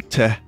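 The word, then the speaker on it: Teh: Here's one from Phantom Te Mate. Phantom the Mate, but it's spelled T-E-H.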